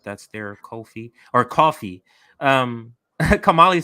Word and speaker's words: Ko-fi: Looks like that's their coffee. Kamali said we've been pronouncing it wrong this whole time.